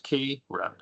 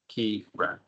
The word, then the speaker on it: Kiran: which are separated so my name is kyun so that has two syllables key run keyun double letters can help